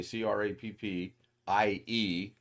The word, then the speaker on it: crappie: or it's it's actually spelled the second way c r a p p i e in you know it's pronounced crappie which you would think would be